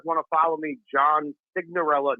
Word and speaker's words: Signorello: Johnny Sig, and it's Johnny Signorello, but in Italian it's Signorella. It sounds so much prettier in Italian than English, but it's Signorella on social.